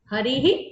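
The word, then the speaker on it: हरिः: See, that Visarga should be heard well. Harihi Palayati.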